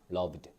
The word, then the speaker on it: loved: loved라고 발음해 주시면 됩니다 드 발음이 들어갈 거예요 loved 그리고 자음 아고 y